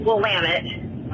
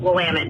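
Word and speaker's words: Willamette: Um, it's actually pronounced Wamit uh, Oregon and I know this because I'm in the wine industry and Wamtt's known for amazing Pon Noir.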